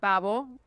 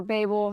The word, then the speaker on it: Babel: the flood then the Tower of Babel um or Babel however you want to pronounce it actually this is very